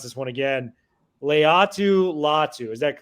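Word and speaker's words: Laiatu Latu: And you got to correct me if I mispronounce this one again. Leatu Latu.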